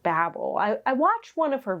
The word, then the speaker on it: Babel: So now we have Babel, which turns out it's pronounced Babel. I watched one of her videos, R F Kuang's interviews, and she was saying Babel. So we're saying Babel.